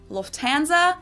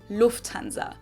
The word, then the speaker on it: Lufthansa: In English, people usually say Lufthansa, but in German, we say Lufthansa. So the emphasis on the first syllable, pretty much the same, Lufthansa accent, really.